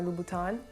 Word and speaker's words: Louboutin: so it's christian christian the same goes for the n at the end of his last name lubutin or louboutin it should be pronounced so when you